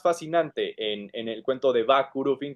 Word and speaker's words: Vah Curufin: Eso es para mí lo que era más fascinante en el cuento de Va Kurufin, que no se pronuncia el H, Va Kurufin.